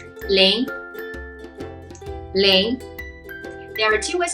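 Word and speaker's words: 零: to the gesture bit and also revise the pronunciation we learned ahead. So let's start. The first one, number 0. Ling, ling, ling.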